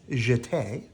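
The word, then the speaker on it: jeté: like this plea we jeete you say it like this jite we do many pirouettes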